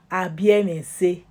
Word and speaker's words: Abiemese: If you see anybody, some people for short, they'll say AB. But is the meaning, the full meaning or the full pronunciation is Abiemese.